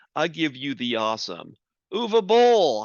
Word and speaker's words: Uwe Boll: in Germany folks I'll give you the awesome oova Bowl how do you do is UVA did I can't pronounce that right you did it perfect okay